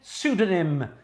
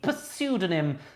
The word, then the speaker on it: pseudonym: you got that 15 pseudonym yes that's silent p pseudonym so it is p